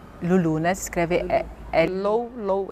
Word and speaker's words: Lou Lou: brasileiras inclusive acredito que sim né e a pronúncia Lulu Lulu né se escreve lou lou ele escreve L